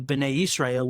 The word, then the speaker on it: Bnei Israel: Then they are for the community of Bnei Israel, which is the children of Israel. That's how you say it in Hebrew.